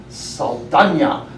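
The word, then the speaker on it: Saldaña: up with her name with a little umlaut on the top of the N. Oh, umlaut. So Oh, yeah. I'm going to pronounce it Saldana from now on.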